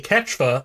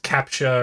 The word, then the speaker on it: captcha: setup where as we make a ketchup immediately people are and i'm saying it wrong it's captcha or something i've seen it with a pha but anyway um the